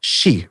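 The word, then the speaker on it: し: associated with death because to pronounce for you would say she right she and she means death in japanes yeah yeah yeah so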